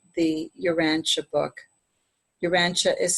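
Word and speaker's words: Urantia: Uranche is spelled U R A N T I A.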